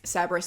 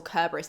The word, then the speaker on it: Cerberus: If you didn't know, Heracles had to go down and get Cerberus or Kerberos, depending on if you pronounce it as a hard C or a soft C, the dog that guards the underworld.